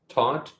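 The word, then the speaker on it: Theuth: spelled um that's t-h-e-u-t-h I assume I'm pronouncing that correctly taught and it was he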